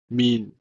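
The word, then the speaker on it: מִן: The next word is mean, mean, M-I-N, mean, because this letter is the final form of noon.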